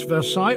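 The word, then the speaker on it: Versailles: v r s a i l l s Versa a city in France known for its shadow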